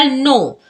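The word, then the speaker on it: know: For example नो, नो में एन से पहले क्या आ गया के, तो के हो जाएगा साइलेंट, के को नहीं पढ़ेंगे तो क्या पढ़ेंगे नो।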